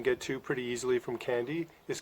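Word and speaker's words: Kandy: go to sri lanka is called candy except they spell it with a k' instead of a c' in candy of course you can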